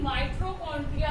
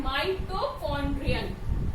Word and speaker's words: माइटोकॉन्ड्रियन: इसका प्रोनाउंसिएशन देखिएगा बच्चे, मोस्टली माइटोकॉन्ड्रिया कहते हैं, ठीक है। क्या कहते हैं, माइटोकॉन्ड्रिया, लेकिन ये क्या है, माइटोकॉन्ड्रियन।